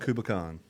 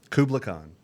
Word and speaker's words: Kublai Khan: favorites knock loose and kubicon kubla khan i said it right the second time all right dude well